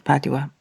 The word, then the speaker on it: Padua: in beautiful spelled in Italian p a d o v a understand that yes Padova and we we have anglicized it to padwa no it's just an